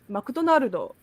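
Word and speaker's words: マクドナルド: And that is always, always, always difficult for us English speakers, because we say McDonald's, but in Japanese it's McDonaldo, and it's really, really difficult.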